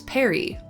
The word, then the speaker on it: Perry: In early stages, it was Perry, like short for Peregrin, and that rhymes with Mary.